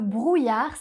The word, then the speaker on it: brouillard: On a un son /j/ qui est fait par les lettres I et deux L.